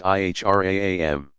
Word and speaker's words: Ihram: the plain white wraps called the Ihram pronounced IHRA am the garb marks at